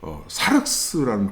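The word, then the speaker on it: σάρξ: 여기서 이 살이라는 단어가, 이거는 이제 헬라어로 사륵스라는 뜻, 그게 발음합니다.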